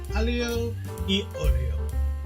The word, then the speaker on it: aglio e olio: Buongiorno, we are looking at how to pronounce with a typical Italian pronunciation the name of this traditional Italian pasta dish from Naples.